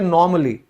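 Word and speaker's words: normally: Meaning भी सीखने को मिलेंगे और उनकी करेक्ट प्रोनाउंसिएशन भी। तो अगर मैं कहूं सामान्य रूप से, उसको इंग्लिश में हम कहते हैं नॉर्मली।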